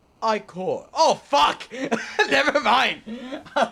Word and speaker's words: ichor: That's pronounced Ichor. Oh, fuck! Never mind! I was saying Ecker. But it really is pronounced Ichor.